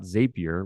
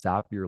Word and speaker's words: Zapier: It's it's pronounced Zapier, not Zapier. We know that because the founder told us it's Zapier like happier.